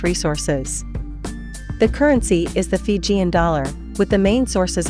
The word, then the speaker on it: Fiji: and much in demand they called their home Didi but the Tongans called it faisai and it was by this foreign pronunciation Fiji first promulgated by Captain James Cook that these islands are